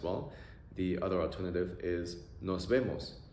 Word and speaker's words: nos vemos: The other alternative is nos vemos. It's kind of like see you or see you later. Pronunciation, o-e-o. Nos vemos. Nos vemos.